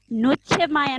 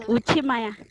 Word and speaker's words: Nuchemaya: Sir, as per my understanding, it would be Nuchemaya, not Uchimaya.